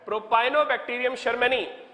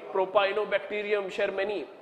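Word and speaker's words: Propionibacterium shermanii: to pronounce the name Propionibacterium sharmani. Just remember, Sharma you have heard about, okay, Propionibacterium, it's a bacterium, Propionibacterium sharmani, okay, which is going to make Swiss cheese.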